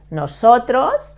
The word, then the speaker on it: nosotros: No, like when you say no, so, tros, okay? The S in Spanish is never vibrating, never. It's soft, nosotros.